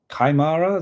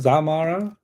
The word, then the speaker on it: Xiomara: I don't know how to pronounce this. Kaimara, Zamara, Shaimara. If anybody wants to tell me phonetically, Zayomara Castro pronunciation. Yeah, boy. Xiomara. Okay, Xiomara, that's fine.